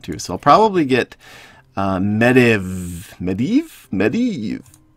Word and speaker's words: Medivh: The proper pronunciation is Medivh.